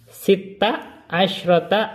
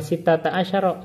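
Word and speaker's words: ست عشرة: Sita asyrata, bukan sita ta asyara, tapi sita asyrata ayatan.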